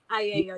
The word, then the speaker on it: Aiello: And your yoga instructor is the lovely Sav Aiello. Did I say her name right? Aiello, yes.